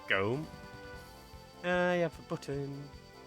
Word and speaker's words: Gotham: It's like near Nottingham, you've got what's sort of spelt as Gotham, but it's pronounced Gome.